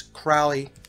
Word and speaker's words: Crowley: the named Crowley for pronounce Crowley with the owl sound in it also has fur the